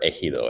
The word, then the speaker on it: ejido: Cesar has noticed I am intentionally using the correct Spanish pronunciation for ejido every time it comes up.